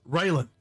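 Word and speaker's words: Railen: It's Raelin.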